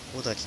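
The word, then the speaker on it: 男滝: こちらが男の滝と書いて小滝という滝です。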